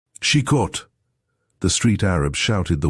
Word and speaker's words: Chicot: Chicot. There was something taking in the sound, two short, crisp syllables, tripping lightly off the tongue. Chicot.